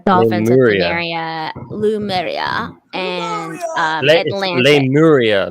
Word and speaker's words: Lemuria: Lemuria, not Lumeria. Excuse me, you have an accent, okay? Lemuria, like it's Lemu.